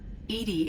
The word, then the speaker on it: EDI: Edie is the phonetic pronunciation of EDI.